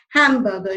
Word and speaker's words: hamburger: You need to pronounce the H. Not many can actually pronounce this word rightly. So, my favorite food is hamburger.